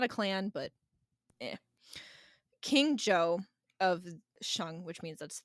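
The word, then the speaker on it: Zhou: I found out that you pronounce his name Joe. So it's King Joe, which isn't funny.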